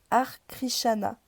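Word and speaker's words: Hare Krishna: Sauf qu'une fois sur place, je me rends compte que c'est une secte, celle des Arkrishana. Ça me dit moi ça me dit rien. Ar krishana, ça s'écrit H a r e plus loin.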